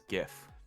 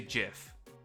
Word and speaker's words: GIF: I mean, technically they're not wrong because phonetically it's j. Yeah. So GIF, I could see that too, but I don't know why. I think GIF would be JIF, like the peanut butter brand.